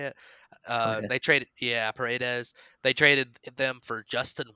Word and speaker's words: Paredes: They traded, yeah, Paredes.